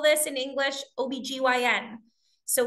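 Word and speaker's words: OB-GYN: call this in English OBGYN so we are more common to pronounce it as an acronym of letters than we are to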